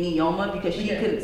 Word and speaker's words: Nneoma: Noma is the actual pronunciation because okay. I am Igbo.